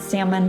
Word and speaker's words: salmon: 2020 has been and we should all just start pronouncing the l and salmon because why not crazier things